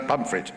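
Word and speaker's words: Pontefract: making pumpit cakes in South Yorkshire that's like ptif frct but yes pronounce pumpit right okay pum cakes um and uh but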